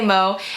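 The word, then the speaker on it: MØ: Her name is, I'm sorry if I'm butchering this, but it's pronounced Mir. I don't know, but Americans say Mo, and I'm sure you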